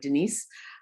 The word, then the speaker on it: Denise: off hello everyone my name is denise actually spelled like denise um denise and i'm about three months